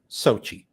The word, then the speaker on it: SOCI: are going to be talking about Sochi correct that's how you pronounce it correct perfect so um we